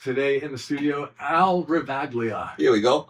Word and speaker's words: Ravaglia: in the studio, Al Ravaglia. Here we go. How you doing? I said it right, Ravaglia? Ravaglia, yeah, Ravaglia. Oh, Ravaglia. The G silent. The Yeah. G is silent.